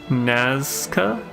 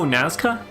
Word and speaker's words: Nazca: Naza. Oh, Nazca. Is that what it is? I think you are right.